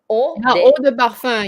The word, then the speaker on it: eau de parfum: And then like this, and this are all pronounced like the letter O in Like French. Oh, sorry, let me. This one. The perfume. Eau de parfum. Yeah, eau de parfum. Okay, you know what?